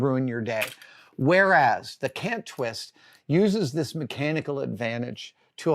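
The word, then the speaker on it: Kant-Twist: But my go-to clamp, my every single day clamp, is the Cant Twist. That's spelled K-A-N-T Twist, made by Clamp Co.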